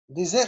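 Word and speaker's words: désert: لما يكون عندي دوز اس بنطق اس، لما يكون عندي اس واحد ما بين دو فويل بنطق زد. ديزير يعني صحراء، لما انت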